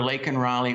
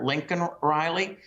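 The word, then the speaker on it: Laken Riley: last night when he couldn't even properly pronounced her name and called her Lincoln Riley uh it was a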